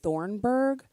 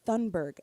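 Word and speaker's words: Thunberg: am I crazy because I've been saying Greta Thornburg this whole time and I've just been saying it wrong and so I went to Google like her name and it's thundberg everywhere but then I did see one thing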